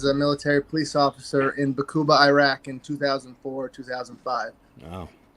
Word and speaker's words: Baqubah: It's really Arabic, and it's really a deep-throated Bakuba. So I couldn't even do it justice, really. But that's how we pronounce it.